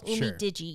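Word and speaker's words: UMIDIGI: to say it right, Umei Diggy. And if you do some more digging, I think it's um Digi, but Oh, Umi Digi.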